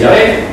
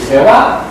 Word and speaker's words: YHWH: Unos diréis Yahvé, otros diréis Jehová, y yo, si soy honesto, tendré que decir YHWH. Porque así suena en nuestro lenguaje, ni más ni más menos.